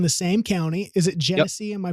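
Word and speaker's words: Genesee: Is it Jennese? Am I pronouncing that right? Jennese. Yep. Jennese County.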